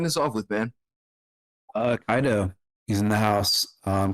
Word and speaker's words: Kaido: which is awesome and you pronounce my name perfectly most people say KO there's uh you nailed